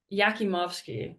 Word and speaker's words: Yakimovsky: Andrei Yakmovsky leading the Buffs with Yakimovsky, that's how you say it.